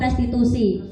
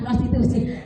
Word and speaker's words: restitusi: Nah, kita belajar tentang apa itu restitusi. Ini ya yang perlu kita istilah pahami. Ya, membacanya jangan salah ya Bapak Ibu, jangan prostitusi. Restitusi.